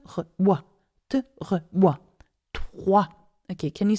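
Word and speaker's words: trois: So if you want to pronounce 3 properly, pronounce it te, re, wa, with a wa sound. So te, re, wa, te, re, wa, 3.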